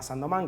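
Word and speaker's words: Saint-Domingue: antes Barbados Jamaica Haití que se llamama Sand doman que es una colonia francesa después Cuba se escribe Saint dominguez digamos este y Eh bueno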